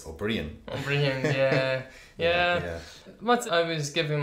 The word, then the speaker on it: O'Brien: you're Liam O'Brien mmm even though it's spelt or for the Bri AI n mmm I say no it's obreon yeah what I was